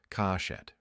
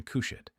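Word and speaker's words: כושית: The Samaritan tradition pronounces the Hebrew consonants differently, kashet, rather than kushet.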